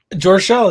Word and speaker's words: Joerchel: there there how do you pronounce your last name is it jorchelle george show that's how i pronounce it yeah no that's perfectly